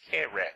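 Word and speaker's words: קרב: It's actually transliterated Q-U-R-E-V, but it's pronounced kereh.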